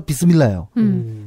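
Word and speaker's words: بسم الله: 스미 어 그러네 그니까 이게 영어식으로 붙이면 그렇게 안 되는데 아랍어에서 붙으면 그게 발음이 그렇게 되나 봐요 비스라 이렇게 그렇죠 바 이미 알라 줄여서 비스밀라 어 이렇게 되는데 이게 바가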